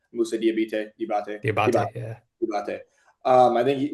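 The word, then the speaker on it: Diabaté: It started off between Jalen Duren and Diabite. I don't know how to pronounce his name. Musa Diabate, yeah.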